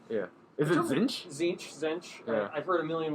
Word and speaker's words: Tzeentch: Zinch? Yeah, all right. Yeah. Is it Tzeentch? Zinch. Yeah. I've heard a million ways to pronounce it.